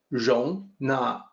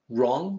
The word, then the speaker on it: 荣: So it's rong, not wrong, not like it doesn't rhyme with the wrong in right or wrong. It's rong.